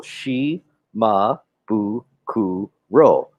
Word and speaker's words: Shimabukuro: because you know in if you're Asian it's easy to break it up syllable by syllable she ma boo COO role but what what a lot of people do is they put the shim I has the first syllable so I don't